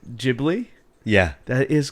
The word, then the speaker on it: Ghibli: Well, you Americans say Ghibli Studios. It's Ghibli.